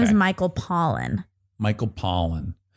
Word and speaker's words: Pollan: Like the kind that would give you the sniffles? Pollan. Pollan. Sure, but I think you would No, you're saying it correctly, Okay, but I'm just phonetically it is spelled like Pollan.